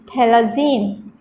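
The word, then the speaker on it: phthalazine: its name would be thalazine it is pronounced as thala zine the ph is pronounced as a silent character so this was the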